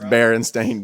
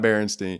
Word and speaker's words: Berenstain: more shocked that the barren stain Bears is pronounced Berenstain Bears and not Berenstein you know what I mean Landing has always